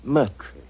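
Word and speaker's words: Murtry: Uh, my name my name is Merry.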